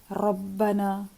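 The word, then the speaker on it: رَبَّنَا: Ra with the Fatha and Dhamma is always heavy, like Rabbana.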